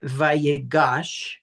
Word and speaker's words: Vayigash: So I think it's important that sometimes that noon gets assimilated. So even though that this is pronounced vagosh there's an assumed noon in the original root verb.